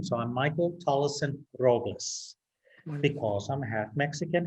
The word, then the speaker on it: Tolleson: I've been saying Tolson, but it's Tollison.